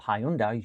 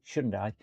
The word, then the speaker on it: Hyundai: Um the Shundai now, which aren't called Hyundai. You've got to pronounce it Shundai.